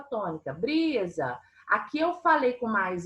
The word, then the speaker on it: brisa: Aqui eu falei com mais entonação, aqui eu falei mais tempo, foi o bri, certo? Então, brisa, eu tenho 2 sílabas, não tenho? Então, eu tenho 2 sílabas. A última não é a mais forte, o bri é o mais forte, e essa é a penúltima.